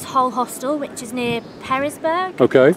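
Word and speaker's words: Pearisburg: I'm going to try and meet her at Woods Hole Hostel, which is near Perisburg.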